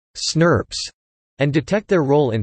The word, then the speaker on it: snRNPs: identify the novel entities snRNPs, pronounced snurps, and detect their role in splicing.